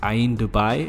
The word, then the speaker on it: Ain Dubai: I think it's called Ain. I'm butchering a bunch of names here. I'm sorry, but I'm pretty sure it's pronounced Ain Dubai.